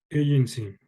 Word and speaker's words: agency: And then the other or another one is words ending in CY, TY, GY, and PHY. They stress where? Okay. The stress in the third to the last syllable.